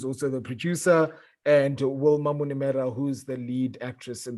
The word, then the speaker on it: Munemera: the star of the film shaina herself wilma minomira welcome to the portland film fest q a